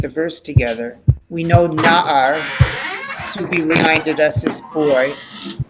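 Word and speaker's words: נער: And let's be careful of the pronunciation of the ayin, which is silent, so that it would be na-ar.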